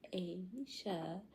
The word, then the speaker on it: Aja: It's pronounced Asia, as in the continent, okay?